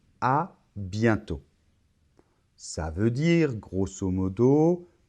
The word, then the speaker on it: à bientôt: la combinaison e et n ça va se prononcer 1 c'est un son à zale à bientôt bon je peux pas insister trop sur la